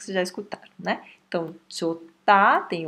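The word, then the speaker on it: 좋다: Chota. Ó, a pronúncia é chota. O H, ele vai fortalecer o T e vai virar aspirado. Vai virar um T aspirado.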